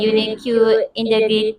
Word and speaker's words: unique: have a delicious and unique ingredients in their food, and I like it because easy to find everywhere. So it actually should be unique, UNIK. That is the correct pronunciation, not unique.